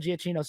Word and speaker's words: Giacchino: I oh, found out his last name, you pronounce it Giacchino. Giacchino. Giacchino, Michael Giacchino. I saw, like, one of my coworkers was like, "It's Giacchino," because he anyway, Good. and I looked online, and that's how he said Michael Giacchino.